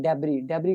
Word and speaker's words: debris: अब यहाँ पे एक वर्ड आप याद करेंगे जो कि है DEBRIS, इसमें इसको प्रोनाउंस किया जाता है डेबरी का मतलब होता है मलबा।